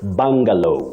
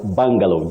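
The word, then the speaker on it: bungalow: a bangalo the the U in that word takes the mid Central sound uh uh so you say bangalo in English you pronounce that word as bangalow just like you say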